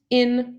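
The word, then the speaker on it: %in%: next bit so percent in percent that is a special function or a special operator that's an operator percent in percent it's just pronounced in pronounced in but written like that and then you give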